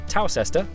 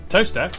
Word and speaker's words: Towcester: Mousehole, Next, travel north up to Towcester, Toaster, then a quick jaunt to Gotham, Gotham, followed by a stop in Quernmore, Quormer, before finishing up in Alnwick.